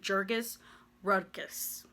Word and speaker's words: Jurgis Rudkus: But for the most part, the entire book really is so focused on this family, especially this one man, Jurgis Rudkus. That's how I pronounce his name, okay?